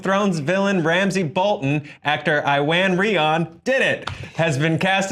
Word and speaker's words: Iwan Rheon: The Hollywood Reporter announced that Game of Thrones villain Ramsey Bolton, actor Iwan Rheon, did it, has been cast as one of the original Inhuman villains, Maximus the Mad.